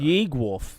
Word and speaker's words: Yeegwolf: Yeegwolf. That's how to say it.